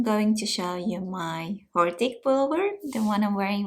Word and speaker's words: Hortik: It comes from Latin hortus with H, a silent H in front, or maybe they read it actually hortus, could be. So I call it hortik with H in the beginning, and it is a very botanical design.